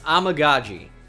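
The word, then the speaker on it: Amegadjie: shoot here in amaji it's amaji I learned how to say it but I forgot the order it's amaji I needed to see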